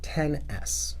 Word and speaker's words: XS: I'm told they're pronounced 10S, and the S stands for, so that's what happened to your paycheck.